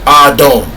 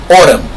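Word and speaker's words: אדם: The word being used in Hebrew for man is Adam, pronounced Adon, or Autumn.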